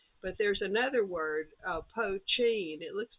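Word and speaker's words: poitín: just means whiskey but there's another word uh pochin it looks like poutine but they pronounce it like the cheese is ch that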